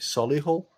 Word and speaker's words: Solihull: you call it solihull but other people call it sully hall yeah well we we